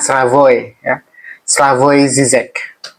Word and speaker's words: Slavoj Žižek: Tulisannya Savog zizek tapi bacanya Sravoy ya. Slavoi Zizek ya.